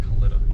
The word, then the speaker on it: Kalitta: of lives maintenance facility i always thought it was kalita as well but apparently i pronounced kalitta which is weird this is